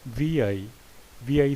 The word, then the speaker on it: vi: for linux unix and other unix-like operating systems pronounced as vi stands for visual instrument it is a widely